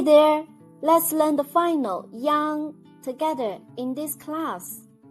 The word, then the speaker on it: iang: Let's learn the final yang together in this class. When you pronounce the final yang, make the e sound, then quickly slide to the ang. Yang.